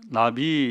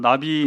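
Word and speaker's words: נביא: 예언자 라 말하기도 하고 히브리어로는 이제 나비 이미 답이 발음 음역을 함 나비 인데 나비는 하나님 말씀을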